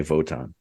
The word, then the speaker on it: Wotan: He talks about this super spy, this spy named Wotan, which is spelled with a W, but because he's German, they say it with a V.